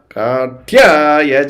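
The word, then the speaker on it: कात्याय: So the stress is on tya and pya.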